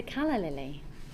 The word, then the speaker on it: calla lily: posh word doll Carla you're just saying it wrong it's a calla lily she's worried she's sounding